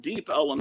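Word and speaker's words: Deep Ellum: Chicago say kids anyway Elm Street became Elum Street and deep Elum Street means deep down on the other side of Elm Street where it's not the nice PL it's the warehouses where the BL so it became deep Elum that's why it's called that but anyway I don't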